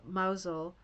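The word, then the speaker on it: Mousehole: So, she's got the brown sweater and the plaid skirt um outside the uh mausole which is spelled like mouse hole.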